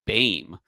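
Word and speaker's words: Böhm: history the Bame family they Americanized it by making it beam it was b o eem which in Germany is pronounced Bame um wow yeah like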